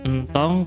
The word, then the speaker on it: entong: Lalu lirik selanjutnya, entong ka sawah. Nah, ingat kan ya, kalau ada huruf E yang tidak ada garisnya dibacanya bukan E ya, dibacanya E biasa.